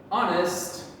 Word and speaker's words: honest: okay and remember there's four exceptions to the rules air honest er our we do not say the h sound so i'm going to